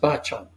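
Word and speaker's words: Bačan: You know, when he came over, the name was Bacan, and I understand that's pronounced Bacan, and from what I remember.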